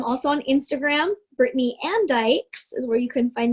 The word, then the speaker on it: Dyches: People pronounce it ditches all the time, or Dyches. It's Dykes.